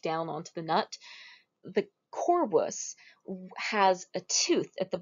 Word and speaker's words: corvus: I would like to introduce you guys to the corvus or corvus. You'll hear it pronounced both ways. Corvus is classical Latin, so I'm going to go with that.